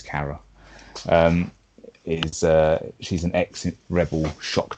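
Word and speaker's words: Cara: Kara Kara Dean isn't it's not Carlos Carradine she's actually said the correct pronunciation is Kara she's an excellent rebel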